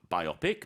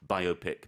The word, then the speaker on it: biopic: So- I understand and I appreciate, because of biography, I think that's why I automatically think of biopic, but you can say biopic. Both are acceptable.